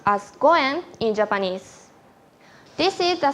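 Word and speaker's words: 五円: success of all business also the five is pronounced as Goen in Japanese this is the same as another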